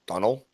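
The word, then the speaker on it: Domhnall: recently they told me his name is actually pronounced um like Donal like like word like the name Donald but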